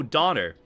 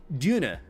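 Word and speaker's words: Döner: Did not know how to pronounce it, so I'm like, oh, Donner.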